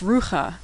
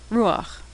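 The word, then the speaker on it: רוח: So you'd think this was pronounced rucha, but when the last letter is chet and it's followed by patach, the patach is pronounced first, ruach.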